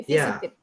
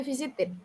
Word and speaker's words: visited: Kalau sebelum ED itu huruf T atau D bacanya biasa ya. Visited gitu.